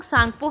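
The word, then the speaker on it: Tsangpo: तो यारलोंग सांगपो हम इसको बोल सकते हैं या तो सांगपो आप बोलना टी साइलेंट होता है यहां तो सांग को हम इसे प्रोनंसिएट करते हैं।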